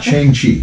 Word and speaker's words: Shang-Chi: Shang-Chi. Shang-Chi. Shang-Chi. It's another one of those two syllable Yes.